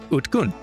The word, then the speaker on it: Utkun: And also, the D and the G end up being unvoiced, so they end up sounding something closer to a T and a K, and there you go, Utkun.